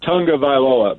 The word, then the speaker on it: Tagovailoa: I think it's Tagovailoa, but that's how he pronounced it. I saw it on videos. Tagovailoa. That's how he pronounces his name.